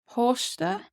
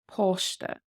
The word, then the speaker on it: páiste: Posta, Posta, child.